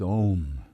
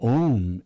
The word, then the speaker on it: Om: So Om is made up of 3 syllables, A, U, M, and the silence before, and the silence after.